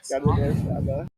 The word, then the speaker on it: carne asada: Carne asada. Carne asada.